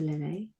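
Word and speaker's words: Lillea: So, Dr. Lily, but it's spelled a little odd. So, um, L I L L E A.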